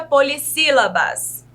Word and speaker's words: polissílabas: O S, quando a gente acrescenta aqui, ó, anteriormente da palavra sílaba, ele foi acrescentado porque senão a nossa pronúncia, ela ficaria errada. Ela ficaria com o sonzinho de Z. Então, por isso, nós acrescentamos um S antes, por estar entre 2 vogais.